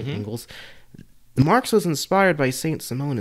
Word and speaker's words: Engels: And then you'll see, you know, if you look at Marx's writing and the Engels brothers, that's how their name is pronounced, right? Mm-hmm. Engels.